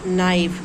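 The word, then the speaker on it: knife: और नाइफ के एन आई एफ ई नाइफ। नाइफ means चाकू। अब देखिए यहां पर के साइलेंट है।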